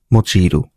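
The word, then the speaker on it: 用いる: অনের উচ্চারণ হচ্ছে ইয়ো, হ্যাঁ, আর কুনের উচ্চারণ হচ্ছে মোচিরু, ঠিক আছে?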